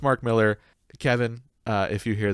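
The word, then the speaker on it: Millar: to us by mark miller which i was pronouncing milar because i heard kevin smith say it that way every interview i looked up every like thing i saw it was pronounced mark miller kevin uh if you hear this keep saying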